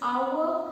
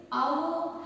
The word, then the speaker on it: hour: Here the smaller part which is there, we call it as our hand. I repeat, it is our hand. H is silent. Okay, our hand.